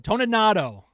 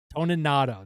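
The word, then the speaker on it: Toninato: Toninado, Toninado, that's how you say his name.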